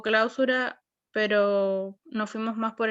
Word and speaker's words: clausura: vamos a ver primero clausura se diría clausura si si usted tuviese acento en la primera no tiene acento en la primera por lo tanto es clausura y clausura operacional ok